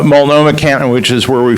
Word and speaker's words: Multnomah: And then you've got Multnomah, did I get that right? Right, you said it right. Multnomah County, which is where